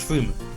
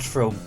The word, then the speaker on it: Frome: The Great Western Railway is extending from Westbury to Frome, and it is pronounced Froome, not Frome.